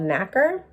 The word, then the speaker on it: nacre: So the mollusk secretes a substance called nacre. I think that's how you say it. It's spelled N-A-C-R-E.